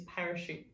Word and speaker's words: parachute: i ng in our last orange wood is parachute st.